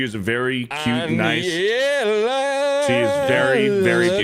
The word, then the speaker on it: Anllela: ANLL? Yeah. Double L is a Y. Interesting. Like pollo. She's very cute. She is a very cute, nice. Aniela.